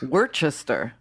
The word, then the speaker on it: Worcestershire: remember as a bartender you know how to say there were sisters yeah more Chester sauce we're Chester yeah that's how you're supposed to take these really